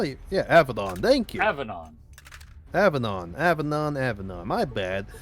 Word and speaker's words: avennon: Avanon. How? Yeah, Avdon. Thank you, Avanon. Avanon. Avanon. Aanon. My bad. Keep trying to go for a high A instead of a low A.